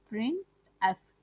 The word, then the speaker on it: printf: करते हैं D function प्रिंट ऐप इस प्रोनाउंसड अस प्रिंट ऐप ठीक है इस प्रिंट ऐप को हम क्या प्रोनाउंस करते हैं जी प्रिंट एफ करते हैं ठीक है अब